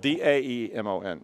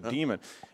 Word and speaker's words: daemon: And people often mispronounce it as daemon. That's how I used to say it. Yeah, you don't want to say it like that. It's a demon.